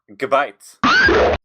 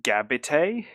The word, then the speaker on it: Gabite: does anyone remember Street Sharks we're talking about gabites it's pronounced gabit it is actually pronounced gabit because it's it's